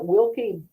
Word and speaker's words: Wilke: So we are going to talk with our very accomplished amazing guest Wilkey um. Am I pronouncing that?